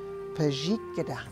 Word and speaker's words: pajikida: So you've got three syllables there. Pajik, this middle syllable with a Z sound, jik. J, and the last syllable has a blend in the very beginning of it. KD is a blend sound, gada. Kada, two letters run together, kada.